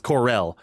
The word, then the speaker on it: Corel: the I resort used to say town coral. of Costa del This is Sol. the pronunciation thing. I used to say coral, but I guess coral is Coral. It's Corel.